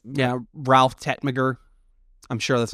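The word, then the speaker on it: Tegtmeier: big names yeah Ralph Tetmagger I'm sure that's not how you actually pronounce his name but freighter udeter oh it's Tetier has a G in it but it's German so the G is silent oh man we're sorry Liz Ralph Ralphie.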